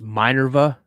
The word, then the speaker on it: Minerva: It's Minerva. That's how you say it.